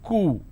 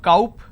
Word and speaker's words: coup: derivatives apartment disagreement dislodge c-o-u-p is coo it's not coop or cow it's coo isolation quarantine gesture lot